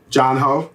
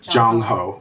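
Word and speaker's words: Jongho: Jungho. Jungho. It's G-O-H-N-G-O. No, sorry, G-O. Nope. G-O-N-G-H-O. G-O-N-G-H-O. J-O-N. Oh, J-O-N-G-H-O. Jungho.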